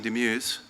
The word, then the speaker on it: Demeuse: Our keynote speaker is Simon Demeuse, and I learned by asking, that is not how you pronounce his name, but that's how he does it in America, and that's what it's going to be.